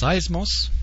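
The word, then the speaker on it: σεισμός: in the New Testament the Greek word pron pronounced seismos and that sounds familiar doesn't it we hear the word seismic and seismologists people who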